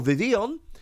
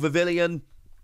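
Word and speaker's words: Vivillon: first ever card for vivion and that is a pokemon which is very hard to pronounce often called vivillion it's not there's no third eye in there but it came around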